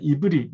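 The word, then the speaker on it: עברי: 상대적으로 다른 민족들이 이스라엘을 낮추어 부르는 이름이 지난 시간에 말씀드렸는데 히브리라고 하는 말이었잖아요. 이브리 이제 그렇게 발음이 되는데요.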